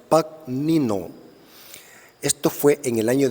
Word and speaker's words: Pagnino: Pero es interesante que el que dividió los versículos, la Biblia en versículos, fue un judío converso llamado Santos Pagnino, así se pronuncia, Pagnino.